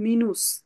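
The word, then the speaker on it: Minus: মানে কি বলে পুংট আর যদি কারো ইমেইল এড্রেসে মাইনাস থাকে তা মাইনাস কে যার মানে বলবে মিনুস কি বলবে মিনুস এম ই কি হবে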